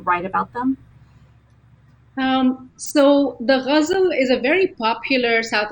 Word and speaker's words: ghazal: Yeah, ghazal.